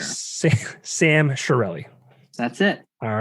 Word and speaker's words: Chiarelli: Yeah, my family says Chiarelli, but that's not the correct pronunciation in Sicilian for sure. Sam Chiarelli.